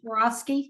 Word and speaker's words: Swarovski: She sells the Swarovski, how do you pronounce that? Right, Swarovski.